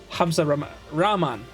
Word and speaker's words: Hamza Rahman: it by the way my name is pronounced Hamza Raman okay so a double A Hamza Rahman is that is that